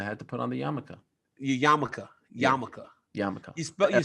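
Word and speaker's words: yarmulke: to put on the yamaka yamaka yamaka yamaka you you say yamaka but spell it like yamok yeah the L is silent Danny Rubenstein was very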